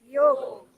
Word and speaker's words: योग: ठीक है, तो आज से मेरी एक बात मानेंगे, योग ही कहेंगे। क्या कहेंगे? योग। योग कहेंगे प्लीज, ठीक? योगा मत कहिएगा। इंग्लिश में लिखते हैं उसे योगा ही है, प्रोनाउंसिएशन उसका इसी तरीके से, लेकिन हमने प्रोनाउंसिएशन ही गलत कर दिया उसका। लिखने का तरीका वही है, लेकिन योग ही कहेंगे, क्योंकि वो योगा नहीं है, योग है वो।